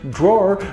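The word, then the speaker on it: דרור: meanings attached to them dwar is pronounced draw in hebrew and it's spelled dalid one of the meanings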